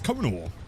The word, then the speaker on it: Konar: I still pronounce like Connor James. No, it's not. It's Konar, the consumer of end times.